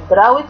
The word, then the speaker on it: drought: Drought condition يعني ظروف الجفاف. GA silent لا ينطقوا فبتنطق drought condition.